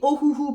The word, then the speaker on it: Ohuhu: comment ça se prononce moi je dis ohouou parce parce que je vois pas comment on peut le dire autrement mais je sais pas